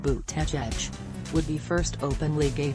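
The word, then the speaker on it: Buttigieg: of Notre Dame academics surname is pronounced boot tech edge would be first openly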